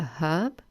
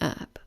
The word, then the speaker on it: herb: english the h is pronounced but in american english it's silent so in british english we say a herb and in american english they say an herb okay let's have a